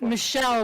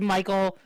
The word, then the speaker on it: Michelle: First of all, it's Michelle, but you can mispronounce it, Reggie. You can mispronounce as Michael to piss Michelle off.